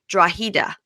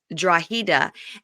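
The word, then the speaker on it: Drogheda: of the place where Shawn is from it's draa oh okay it's spelled draga but it's draa and that led me I I got led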